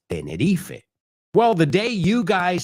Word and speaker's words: Tenerife: In fact, Americans, we would say Tenneref, right? But that's the English pronunciation of it. But we all know it's Tenerife.